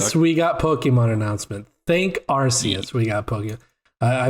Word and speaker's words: Arceus: we go and i i think it's pronounced archaius no it's not like i believe it's rcs actually i heard that on ign's pod cast too where they were like i thought it was our arceus a huge like